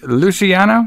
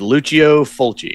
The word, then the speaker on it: Lucio Fulci: Luciano? It's Lucio Fulci.